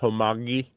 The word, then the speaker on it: homage: I believe the correct pronunciation is homogamy.